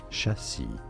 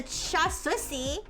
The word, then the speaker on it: chassis: For reference, this is a word of French origin. and in French said as shassi shassi I've been saying it wrong this whole time. Oh my god. Not the chasi.